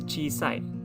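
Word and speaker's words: 小さい: an adjective and e adjective again and it's pronounced as as chi sai and you write it as follows the character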